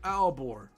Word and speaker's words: Aalborg: With a so the G's not pronounced? Aalborg. So it's Ulbor or Aalborg?